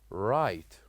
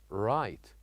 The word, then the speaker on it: right: say directly we say right right so G and H are the kind of letters that we write with this word but without pronouncing right and also with